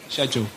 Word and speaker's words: schedule: The correct British way is in fact schedule.